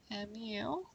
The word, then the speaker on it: mu: our mean and the way that's pronounced is as me mu is the symbol for